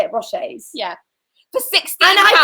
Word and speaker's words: Rocher: Rochers.